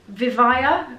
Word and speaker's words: Vivaia: me by a brand called vivaya i think they pronounced them they're kind of